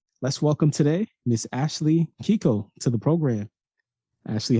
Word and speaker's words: Keiko: my middle name and it's usually pronounced Keiko but my family I guess being American they just didn't know I was actually pronounced so we've always pronounced it Kiko and so I just always pronounce it Kiko now got it got